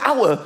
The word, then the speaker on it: hour: Like the word hour, for example. Why is the word hour spelt with an H? Why is there an H? The silent H.